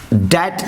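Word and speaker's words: debt: वह कर्ज में पड़ गया, ही फेल इनटू डेट इसको बोलते हैं। ये भी एक इम्पॉर्टेंट बात है, बी साइलेंट होता है इसके उच्चारण में, इसको डेप्ट नहीं पढ़ते हैं, आप लोग ध्यान देंगे।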